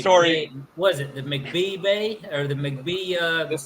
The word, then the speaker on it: McBee: You got to draw out the Mac and the B, but it's all one word. It's big M, little C, big B, E, and the C's at the bottom, so it's pronounced McBee.